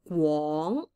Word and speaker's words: 廣: Okay, or sometimes it's to say, 講, and then 廣東話, mind your pronunciation. This is GW, 講, and then 廣, so you can feel the W.